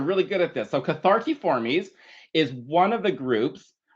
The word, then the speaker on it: Cathartiformes: Okay, so the first word, which is ridiculously long, is Cathartiformes. Yes, that's what I said. Cathartiformes. Okay, so I want you all to pronounce with me. Cathartiformes.